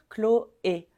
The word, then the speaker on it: Chloé: Chloé tu veux dire Chloé Chloé Chloé le CH ici ch c'est exactement comme un K clle Clo et Chloé Chloé ensuite ce prénom on